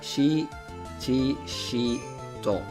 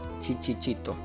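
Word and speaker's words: Shichishito: S H is like she, for example, and C H is like chi. So, it's Shi-Chi-Shi-To. It's It's different sounds. It's not Chi-Chi-Chi-To.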